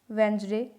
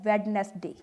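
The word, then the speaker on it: Wednesday: वेंसडे, इसे हम वेंसडे पढ़ते हैं, नॉट वेडनेसडे। अगर कोई इसका प्रोनाउंसिएशन वेडनेसडे कर रहा है तो वो रॉन्ग है।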